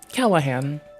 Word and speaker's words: Callahan: Callahan. It makes you excuate the time between the A and the H to have to accommodate that G.